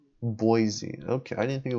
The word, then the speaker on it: Boise: and cons idahoan is where wasis was Idaho pronunciation Boise okay I didn't think it was Boise Boise peace out I'm gone it's on the